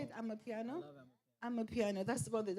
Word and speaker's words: Amapiano: Amapiano.